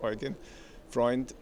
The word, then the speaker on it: Eugen Freund: That is Eugene, but pronounced Eugen Freund, and I'm a member of the European Parliament.